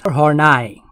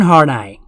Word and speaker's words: Horney: the pronunciation is horny or nice cat theory karen harnai also known as horney's personality